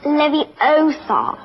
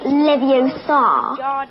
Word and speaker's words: Leviosa: someone's eye out besides you're saying it wrong it's Levy Oar not leio you do it then